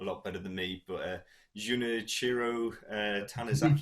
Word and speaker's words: Junichiro Tanizaki: You'll probably be able to pronounce the name a lot better than me, but Junichiro Tanizaki. Junichiro Tanizaki.